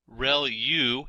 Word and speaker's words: ReLU: There are multiple hidden layers like convolution layer, ReLU is how that is pronounced, and that's the rectified linear unit.